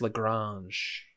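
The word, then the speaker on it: La Grange: It's Lagrange, but it's like one of the most iconic ones. It's pronounced Lagrange.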